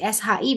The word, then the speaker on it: 是: Jadi SHI bacanya shi. Kayak ada e-nya, shi.